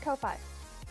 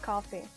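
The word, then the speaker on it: Ko-fi: and I'm going to keep it well I pronounce it Kofi English is my second language so that's okay Teddy says it's actually pronounced coffee cheers to the coffee cuz yes it is 5 p.m.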